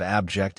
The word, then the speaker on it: abject: The pronunciation of abject is up for debate. You can decide whether to stress the first or the second syllable.